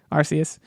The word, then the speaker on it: Arceus: know about and i don't know how to pronounce this pokemon legends is it arceus yes arceus uh this just shows how in the know